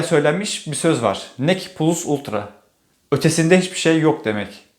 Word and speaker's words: PLVS VLTRA: Nec plus ultra. Ötesinde hiçbir şey yok demek. Bu sözün plus ultra kısmı halen daha İspanyol bayrağının ambleminde yer almakta. Ötesinde demek eski Latince ile yazılmış, V'ler U diye okunuyor.